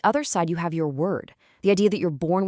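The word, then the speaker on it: wyrd: The word is word. And yeah, it's pronounced exactly like weird.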